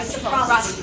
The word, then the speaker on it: reciprocity: Excuse me, I'm not pronouncing that right. Reciprocity.